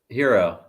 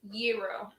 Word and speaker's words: gyro: The enunciation is Euro. Okay, so it's a cross between. I went Euro. He went hero. You went gyro. I don't think my pronunciation's going to be right on any of these I based pronounce on it where I grew up. I pronounce it like HERO. Hero. Yeah, we're supposed to hit the Y harder.